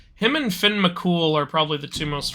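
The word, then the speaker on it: Fionn mac Cumhaill: I thought it was like oh it's like fionma Kumail but then I found out later it's pronounced Finn McCool and I was like that sounds that sounds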